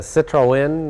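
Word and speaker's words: Citroën: we have here well this is a Citroen uh Citroen Citroen that's the correct pronunciation uh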